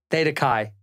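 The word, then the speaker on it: Theta Chi: was the one you were in feta Kai Theta Kai I just said it Theta Kai you're not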